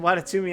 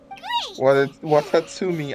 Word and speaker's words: Watatsumi: island is now secure what the was that pronunciation of watatumi Island watatsumi Island he said like Tatsumi Island would Ratatouille Island what's